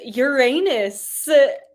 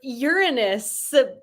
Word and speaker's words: Uranus: It's Uranus or Uranus. Both pronunciations not the greatest, but that's the answer for number 5.